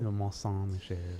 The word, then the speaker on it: Mont Saint-Michel: Mont Saint-Michel. Mont Saint-Michel. I love that guy. He has like so many videos of doing pronunciations.